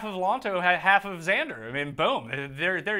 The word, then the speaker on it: Xander: it yeah Sean John I think there's a Z when you see Nexus Chinese and you see X I think it's pronounced Z alright so Joe that's just how good Xander safely it's a Z yeah alright so I